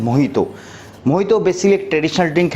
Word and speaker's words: Mojito: मोहितो, बहुत से लोग इसको मोजितो प्रोनाउंसिएशन करते हैं, MOJITO। अगर इसे नॉर्मल इंग्लिश में पढ़ूंगा तो ये मोहितो होगा, बट ये लैटिन लैंग्वेज में और क्यून वे में जे जो होता है वो H प्रोनाउंसिएशन होता है, इसलिए इसको हम पुकारते हैं मोहितो।